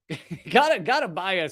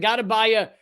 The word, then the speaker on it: Gotabaya: Gotabaya sounds like, you know, what you have to do on an anniversary. All right, I get it. I gotta buy you a gift. Okay, President Gotabaya Rajapaksa fled his residence.